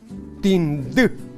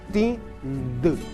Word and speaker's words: Tindú: Probemos pronunciando como en castellano la primera sílaba. Tin. No. Cortemos la sílaba antes de llegar a la N. Y tenemos entonces ti. A eso le agregamos el sonido de la N que faltaba, más D. D. B. D.